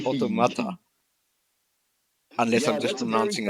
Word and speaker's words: Automata: Why do I've always called it Autonoma. I don't know why. I'm checking it now and it's Automata.